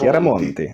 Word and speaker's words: Chiaramonti: Chiaramonti.